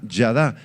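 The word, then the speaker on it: ידע: palabra saber es la palabra hebrea yada con y a d y a con el acento en la última a yada significa conocer profundamente conocer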